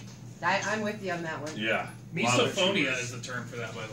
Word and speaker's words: misophonia: Loud Misophonia chewers. is the term for that, by the way. What Is is that it? right? It's an actual thing. It's an actual thing called misophonia.